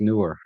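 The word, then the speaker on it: Neewer: It's pronounced newer, but uh this one does have S1 and S2 mode.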